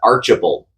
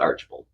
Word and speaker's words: Archbald: c HB l d is pronounced archal to the locals and I'm that local I call it archal yeah uh archal pole State Park also